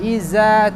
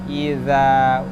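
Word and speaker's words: إذا: Hati-hati di huruf ini, bukan iza tapi idza. Ujung lidah, ujung gigi siri atas.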